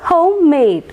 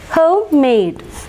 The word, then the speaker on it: homemade: stressed and next one homemade homemade here also both the syllables are stressed homeade homemade both the